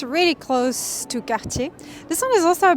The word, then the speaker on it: Cartier: I think this one pronunciation wise is one of the hardest because of the R, you know. So it's Cartier.